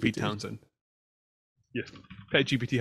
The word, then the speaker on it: Townshend: Townshend. Townshend. Like Pete Townshend.